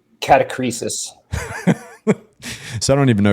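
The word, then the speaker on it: catachresis: Catacresis, huh?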